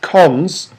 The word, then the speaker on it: cons: So this operation is pronounced cons, and it's for constructing a list.